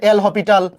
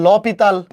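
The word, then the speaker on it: L'Hôpital: শুধু লা হসপিটাল বা এটাকে অনেকে বলে এল হসপিটাল বা আসল উচ্চারণ হচ্ছে ল পিতাল। আমরা এটাকে ভালোবেসে এল হসপিটাল বলি।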